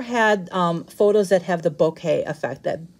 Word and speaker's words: bokeh: photos that have the bokeh effect that b o k e h that's pronounced bouquet so i can actually